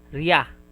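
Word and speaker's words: りゃ: This is re and ya. It will be pronounced as riya.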